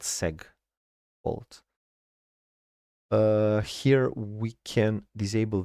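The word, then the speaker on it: segfault: If a segmentation fault occurs uh then because it's short for segmentation, I guess it's pronounced seg fault.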